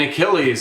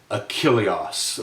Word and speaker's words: Achilles: And Achilles is definitely, I'd say, how most of us pronounce that great character, whose wrath is actually much delayed in this text. But in any case, if we listen to that again in the Greek, we hear Achilleos or Achilleos.